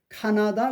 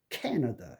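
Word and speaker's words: Canada: 캐너 캐너 캐너 그거를 카나다 그러면 안 됩니다. 이거 캐너 그래서 약하게 거는 약하게 하고 강하게 근데 여기서 제가 말씀드리고 싶은 거는 약한 거를 약하게 발음 안 하면은 강한게 두드러지가 않아요. 약한 거를 약하게 해 줘야 강하게 발음하는 그 그 액센트가 있는게 돋보이기 때문에 영어가 그 알아듣기 쉬운 건데 똑같이 카나다 그러면은 이게 카가 엑센트가 없는 거 캐나다 이렇게 확실히 주고 두 번째 세 번째를 약하게 하면 캐나다디언 앞에 있는 캐나다에서는가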